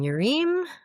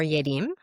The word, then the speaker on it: Yerim: I'm Yerim, or Yerim, which is the Korean or actually Norwegian pronunciation, conveniently for me.